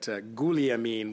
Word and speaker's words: Guglielmin: So just before resuming debate here, I wanted to recognize that Guliamin would be the proper pronunciation, and you've brought it